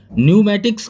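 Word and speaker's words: pneumatics: ऊपर भी बताया था कि एस से पहले हो या फिर एन से पहले हो तो पी साइलेंट रहती है। न्यूमेटिक्स का मतलब होता है गैस यांत्रिकी, यानी कि वायुशास्त्र जिसे बोला जा सकता है, ये होता है न्यूमेटिक्स, न्यूमेटिक्स बोला जाता है।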